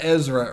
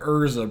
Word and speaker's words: Ezra: how they're pronounced so he was calling Ezra urza Bridger it was Erza and Kanan or something